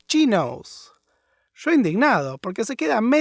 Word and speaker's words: chinos: les pregunto, ¿What are chinos? Se empezaron a reír a carcajadas y me corrigieron que se pronuncia chinos.